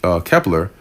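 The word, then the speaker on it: Kpler: North Carolina-based, well, I think it's pronounced Kepler, analyst Matt Smith described the great volume of incoming ships as an armada of tankers heading this way.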